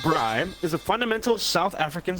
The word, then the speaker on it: braai: pronounced bri, is a fundamental South African social tradition similar